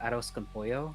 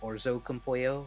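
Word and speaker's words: arroz con pollo: I was a kid, she used to always get aros compoo, but she would always pronounce it wrong, which is orzo compoo, which is not true. It's not the correct way of saying it, but I tried it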